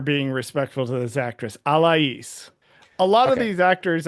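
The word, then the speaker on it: Alaïs: Um, Alas, she has that um lot on her on the I in her name, so I don't know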